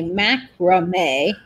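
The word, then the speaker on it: macramé: And Nate is saying that they pronounce it differently in New Zealand. They say macrame. And I think macrame. Is that how you say it, Nate? I'm trying to read your pronunciation. How would you say it like he's saying it? I smell macrame. It sounds like that's what we say it as.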